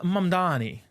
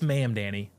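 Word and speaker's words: Mamdani: Our first iteration of official business comes from none other than Zoron Mandani, which I actually think I may have. No, it's not how you pronounce it. It's Mam Danny.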